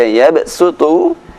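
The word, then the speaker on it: يَبْسُطُ: Saya sebutkan 2 contoh huruf shad yang lebih baik dibaca dengan suara sin, yaitu di Al-Baqarah 245, ayatnya berbunyi Wallahu yaqbidu wa yabsutu wa ilaihi turja'un. Yang kedua Al-A'raf ayat 69, ayatnya berbunyi Wadhkuru idh ja'alakum khulafa'a min ba'di qaumi Nuhin wa zadakum fil khalqi bastah. Jadi yabsutu dibaca yabsutu, bastah dibaca bastah.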